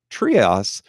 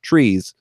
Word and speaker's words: Treas: Now, her name is spelled Treas, and forever and a day, I've always thought that that was pronounced Trias. However, in a bonus material that I watched with the producer, Kenneth Johnson, he explained that her name is actually just pronounced Trees.